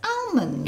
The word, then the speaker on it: almonds: Almonds. Do you mean almonds? Almonds. Almonds. It's not got an R in it. Almonds. You're saying almonds. That's because how you say it. No, it's almonds.